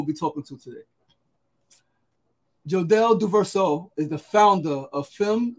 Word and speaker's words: Duverseau: Duverseau? Duverseau.